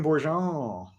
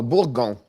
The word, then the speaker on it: Bourgon: Adrien Bourgeon or Bourgon. Sorry. Bourgon. Okay. Yeah, Bourgeon is GE, but Bourgon.